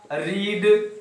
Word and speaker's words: read: वी had, verb का third form, पढ़ना, रीड, spelling वही होता है, प्रोनाउंसिएशन चेंज होता है, रेड।